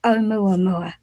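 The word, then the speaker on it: ʻOumuamua: let's get on to omua mua because this is absolutely fast have i pronounced it properly yeah you did it right and i should say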